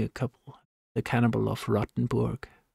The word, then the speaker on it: Rotenburg: couple the cannibal of rottenburg rotenburg that's how he pronounce it in Germany it's difficult is that